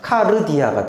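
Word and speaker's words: καρδία: 근데 사실은 이게 로라는 알파벳인데, 리을 발음입니다. 그래서 이것만 읽으면 읽혀. 이거 D고 I고 A 같이 보이잖아요. 그러니까 카르디아가 되죠.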